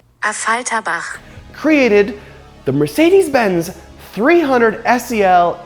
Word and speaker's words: Affalterbach: Over 50 years ago, back in 1971, the brand from Affalterbach, that's not how you say it, this is how you say it, Affalterbach, created the Mercedes-Benz 300 SEL AMG.